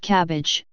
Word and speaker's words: CABG: coronary artery bypass graft CABG pronounced cabbage surgery and colloquially heart